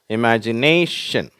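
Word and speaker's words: imagination: idea next இமேஜினேஷன் சரியா இமேஜினேஷன் இந்த மாதிரி ஷன்னன்னு முடியுது அப்படின்னா அதுக்கு முன்னாடி உள்ள சிலபல கொஞ்சம் அழுத்தமா வச்சரிப்பாங்க இமேஜினேஷன் ஓகேவா அதே மாதிரிதான் அடுத்தது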